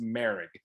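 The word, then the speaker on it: Moehrig: right yeah it's spelled morig m-o-e-h-r-i-g but it's pronounced mary he uh it came out this week that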